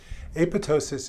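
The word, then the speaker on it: apoptosis: about that several times note that the second p is silent apotosis is programmed cell death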